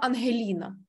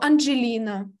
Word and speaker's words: Ангеліна: Я ніколи в житті для іноземців не була Ангеліна. Ніколи. Вони не можуть вимовити звук «г», такий, який він є в українській мові. Я була або Анджеліна, або «Ан» і не зрозуміло, що далі.